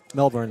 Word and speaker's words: Melbourne: I love Melbourne. Like there's lots to do, and yeah. But I got to let you know, it is Melbourne, all right? Yeah. It's Melbourne.